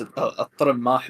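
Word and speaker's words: al-Tirimmah: And by the way, I did just notice that I've been pronouncing the poet's name. It's al-Rammah ibn Adi.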